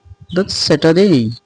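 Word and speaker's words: Saturday: আমরা আগে পড়তাম স্যাটারডে আসলে এটা স্যাটারডে না এটা হচ্ছে স্যাটারডে স্যাটারডে কি বলবেন স্যাটারডে আলটা উচ্চারণ হবে না আমি বাংলায়ও লিখে দিয়েছি স্যাটারডে ডে হবে না এটা হবে ডেই পরেরটি হচ্ছে সানডে অর্থাৎ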